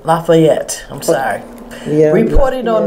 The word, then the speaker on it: Lafayette: Did I pronounce his name? Lafayette.